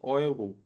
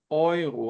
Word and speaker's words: Euro: Quando eu falo das macht 45 Euro, atenção para essa pronúncia. O E seguido do U é um ditongo de som OI, como se fosse o O seguido do I do português, tá?